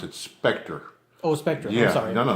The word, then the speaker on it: SPCTRE: and as far as the ghost hunting group spectra how did it first begin like how did spectra first start off well first of all we pronounce it Spectre Oh Spectre yes no no that's okay that's